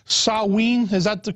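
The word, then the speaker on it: Samhain: know the real name I think was called saween is that the correct the correct pronunciation yeah and in the Celtic British aisles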